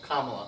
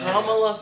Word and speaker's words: Kamala: mispronounce it? Yeah. Oh, dude. What was it? Kamala. Kamala. Who knows how many times? I probably did it a No. billion times just to make Kamala fell into the PC trap.